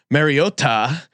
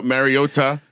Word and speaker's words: Mariota: Mariota himself was like tweeted out a video of Marcus Mariota pronouncing his own name and it sounds way closer. If anything, there's something he does slightly different on the a part, but certainly not the tu at the end.